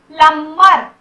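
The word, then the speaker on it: plumber: प्लम्बर, प्लम्बर बोलते हैं, प्लम्बर नहीं बोलते हैं, यहाँ भी बी साइलेंट होता है।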